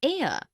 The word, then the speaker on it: heir: ink pad also an heir an honest an hour because the words air honest an hour begin with a vowel sound as the initial consonant H is not pronounced article one we use